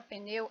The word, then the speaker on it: pneu: Tem pessoas que arriscam em separar a palavra P e depois neu. A palavra pneu, ela não é separável. Por que ela não é separável? Porque a gramática da língua portuguesa, ela me diz que só existe sílaba se perto da consoante tiver vogal. Então, só o P não forma sílaba.